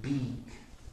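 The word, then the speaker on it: Bic: Beak. Big. Beak. Beak. It's a long I. Beak. Weak.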